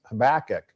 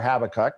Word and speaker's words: Habakkuk: and over again, but it's Habakkuk or Habakkuk, however you choose to pronounce it.